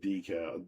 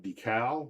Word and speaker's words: decal: U I've always said decal. Decal. Okay. I've always said decal, but I got that from someone else, I'm sure. emphasis on the second.